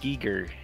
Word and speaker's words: Giger: You know, on the subject of mispronunciation, it's H.R. Giger. Oh. Giger? I always said Geiger. I know. It doesn't even. Like, Geiger just sounds so much more nefarious. Mm. It does. Giger sounds goofy. Goofy Giger. It sounds, rhymes with eager, and it just, it